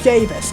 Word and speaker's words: Javis: I need to remember his name is pronounced Javis.